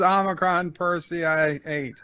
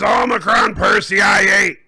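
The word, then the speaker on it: Omicron Persei 8: ruler of this planet omicron per what is omicron per ci eight no it's what is omicron perseid yes that's what i said you didn't say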